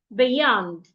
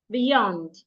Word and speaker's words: beyond: Another word, if you have a word that has 2 syllables and the word is a preposition, you should also stress the second syllable. For example, you have beyond, beyond.